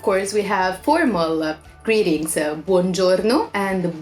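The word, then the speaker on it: Buongiorno: good day good morning again you pronounce every vowel so it's Buon Giorno and then we have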